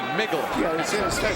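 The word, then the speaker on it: Mikkel: k e l but in Danish it's pronounced as if it's a g migle just like you say nickel the money nickel he said that's the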